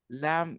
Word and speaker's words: lamb: B is silent.